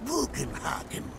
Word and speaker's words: Bugenhagen: My name is Bugenhagen.